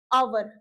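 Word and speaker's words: hour: जब एच हमारा साइलेंट हो जाएगा तो हम इसको क्या पढ़ेंगे? आवर ऑनर ऑनेस्ट ऑब ठीक है जब यहां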